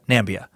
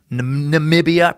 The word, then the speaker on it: Namibia: president is the only one who calls Namibia Nambia. Ah, fuck. Sorry, let me buy you a microbrewer single malt sometime. Man, damn it. Did I fucking say Nambia? instead of Namibia. Namibia.